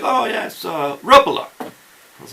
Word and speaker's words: Rapala: and I asked him hey how do you pronounce Rapala okay and he's like oh yes RUP Allah I was like okay so it's sorts rough a lot he's like yes rough Allah that's like okay rough Allah and so it's